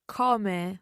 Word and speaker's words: come: it in both ways come or come and it varies depending where you are in italy so it's a regional thing let's say but don't